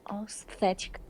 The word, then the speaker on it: aesthetic: Yeah, so this is another tricky word because the TH doesn't make a th sound. It doesn't make a th sound. It's actually pronounced Aesthetic. aesthetic. Aesthetic. Aesthetic. Aesthetic. Aesthetic. The T, exactly. So no th sound, it makes aesthetic. Aesthetic.